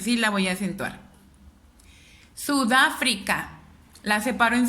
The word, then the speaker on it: Sudáfrica: Me doy cuenta que es en el da. Entonces identifico, si no está en la última sílaba, no es aguda. Si no está en la penúltima sílaba, no es grave. Si está en la antepenúltima, corresponde a una palabra esdrújula.